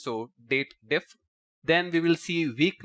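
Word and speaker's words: DATEDIF: and then we have date diff usually most of the excel users pronounce it as dated if but it's date difference so date diff then we will see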